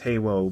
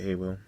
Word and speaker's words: HALO: wars cooking with cooper it's halo but some some person might pronounce it he will and the only person